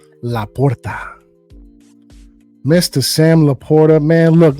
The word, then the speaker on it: Sam LaPorta: I think that's how you say it with the R's. Laporta.